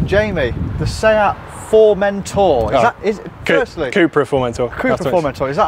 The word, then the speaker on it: Cupra Formentor: who's just literally part right so jamie the cooper for mentor firstly am i saying it correctly is that